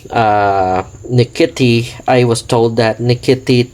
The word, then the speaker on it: Nkiti: So as what I'm told, Nkiti is spelled as Nkiti, or with the TH at the end, Nkiti, Nkiti, or Nkiti is an Igbo language which is belonging to Nigerian tribe.